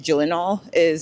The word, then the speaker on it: Gyllenhaal: you would know that Denzel Washington and Jake Gyllenhaal I think that's how you say his name, Gyllenhaal, are in the show.